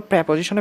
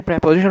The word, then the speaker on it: preposition: ঠিক আছে এখানে কি বসেছে অন বসেছে এগুলো প্রেপজিশনে বেশি গুরুত্বপূর্ণ প্রেপজিশন বলতে তোমার এইচএসসির যে প্রেপজিশন রয়েছে সেটা এবং এডমিশনে যে প্রেপজিশন রয়েছে সেটা আমরা অনেকে প্রেপজিশনকে প্রিপজিশন ইউজ করি